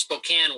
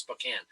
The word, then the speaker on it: Spokane: right now I'm in Spokane Washington only it's pronounced Spokane Washington it's spelled Spokane but it's pronounced Spokane I'm in Spokane Washington where the Gonzaga Bulldogs who would have